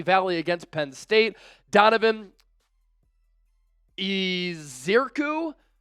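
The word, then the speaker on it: Ezeiruaku: against Penn State Donovan eiru I I've been trying to get this pronunciation right all day isaku I think is the proper pronunciation got to go through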